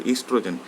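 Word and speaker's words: oestrogen: Here O is silent here, so it is pronounced as estrogen.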